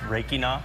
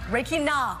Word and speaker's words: Rakina: It's pronounced Rakina. Rakina. I almost had it correct.